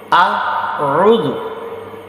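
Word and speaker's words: أعوذ: আউযু আউযু আ, প্রথম শব্দটা হচ্ছে হামজা, হামজা জবর আ।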